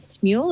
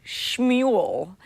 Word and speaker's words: Smule: article that you found sarah about is it smule is that how you pronounce it yeah yeah it's funny um chad